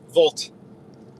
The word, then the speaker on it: Wolt: Volt. WOLT, pronounced Volt, I believe, internationally.